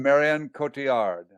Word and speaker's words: Marion Cotillard: How do you should- pronounce her name? Marion- Marion Cotillard.